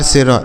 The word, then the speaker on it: sour: अगला शब्द क्या है दोस्तों SOUR, तो यस से हो गया सौ, इस O और U का उच्चारण अ हो गया, आर से र, इसे पढ़ेंगे सौर, मतलब हो जाता है खट्टा, सावर मतलब खट्टा होता है, ठीक है।